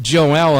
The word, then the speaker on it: Joel: Now that's actually pronounced Joel, and I want to make that correction because he has earned the right to say my name correctly.